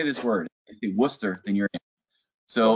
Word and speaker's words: Worcester: word you ready it's how do you say w-o-r-c-e-s-t-e-r it's it's a town outside of boston yeah say it again it ain't worcester unless you're not from there oh worchester okay no it's worcester yeah what's that yeah